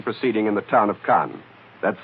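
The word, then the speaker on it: Caen: even is fighting proceeding in the town of Khan that's spelled c aen of course all of this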